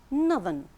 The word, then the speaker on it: northern: These words are nouns, but when we turn them to adjectives, using the suffix ERN, pronunciation changes too.